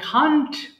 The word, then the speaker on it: can't: দেখেন, আই খান্ট উচ্চারণ করব খান্ট। ক্যান নট কে আমরা যখন একসাথে বলি এটাকে খান্ট বললে ভালো শোনা যায়।